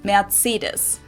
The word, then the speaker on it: Mercedes: Mercedes in German we pronounce it matidus. Mercedes versus matidus.